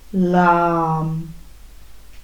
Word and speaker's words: lam: So saying softly to yourself the syllable LAM, L-A-M, LAM.